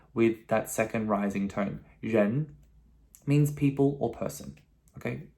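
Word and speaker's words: rén: this character is pronounced jen okay now this has a second tone the first second time we've seen in today's video okay that rising questionable what jen jen okay a little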